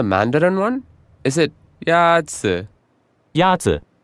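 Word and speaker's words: 鸭子: Yazi is pronounced with a first tone. In Mandarin, there are four tones, which are essential to distinguish the meaning of words. The first tone is a high, level tone.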